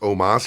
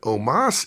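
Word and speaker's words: Omos: I noticed was Omas still don't know why his name's pronounced Omas even though it's o-m-o-s but Omas is a star I'm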